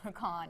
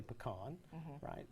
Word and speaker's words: pecan: you to hear how you say makan if you said well right so I think here in Kentucky we say it the right way we say pecan there are some other places where they mispronounce it but that's okay if they want to do that they're just on your